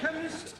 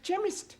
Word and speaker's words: chemist: me k e n chemist does not begin with a k it sounds like it begins with k CH H but that is making it chemist no the CH is